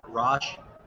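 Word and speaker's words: Rosch: that we got from, everybody always pronounces it, it's Roche, R-O-S-C-H.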